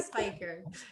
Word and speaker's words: Speicher: It took me forever to debate with my husband how to pronounce the way it's spelled, but he won. So SPEICHER.